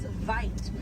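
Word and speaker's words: wyd: Original word for white rhino was vite. Vite means wide in Afrikaans, but over time it was misheard and mispronounced and it turns into the white rhino.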